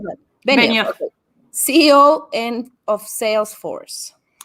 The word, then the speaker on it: Benioff: How do you pronounce that? Benioff.